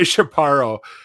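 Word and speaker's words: Chaparro: those wonderful things you get Robbie and I pronouncing and our our northern northern white guy comes through um but Andre Andre chaparo is a guy that you should maybe know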